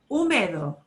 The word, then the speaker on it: húmedo: Húmedo. Húmedo. And you'll notice that it has an accent mark. That means normally, Húmedo. without the written accent mark, people would not think to punch that syllable.